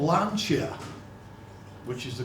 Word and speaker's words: Lancia: they were from italy um they were called lancia which is the correct pronunciation valencia so we're all familiar with lancia